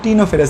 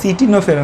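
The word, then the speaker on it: Ctenophora: মনে রাখবার, দেখা যায় সিটা উচ্চারণ হয় না, কিছু কিছু ওয়ার্ড আমাদের উজ্জ্ব থাকে না মাঝে মাঝে, সেরকম সি উচ্চারণ হয়, এটা উচ্চারণ কিন্তু টিনোফেরা, সি টিনোফেরা না, টিনোফেরা পর্বের প্রাণীতে আমরা এই দ্বিঅরীয় প্রতিসম দেখতে পাই।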